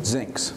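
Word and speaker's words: Zynx: and chief executive officer of how do you pronounce that again zincs zincs z-y-n-x zinc zinc's health which is the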